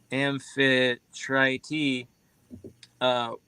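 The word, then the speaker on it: Amphitrite: a seed nymph Infiltrate The Goddess pronounced as amphi try t uh was one of the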